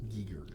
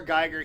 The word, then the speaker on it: Giger: this question HR Geiger I'm almost positive it's pronounced Geiger never designed another alien